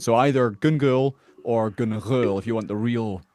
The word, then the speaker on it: Gun Ghaol: So if you want to get it the the authentic way, it's gul.